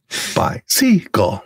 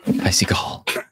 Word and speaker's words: Beisiegel: Extra emphasis on the syllables of your name. Beisiegel. Beisiegel.